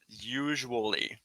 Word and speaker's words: usually: it you're getting it you need to pronounce the u and the a in the middle usually usually usually usually usually usually